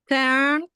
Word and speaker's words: turn: jenny jenny jenny let's go how do you pronounce an excerpt of words turn learn turn learn okay so we have to stay with your arm are inside.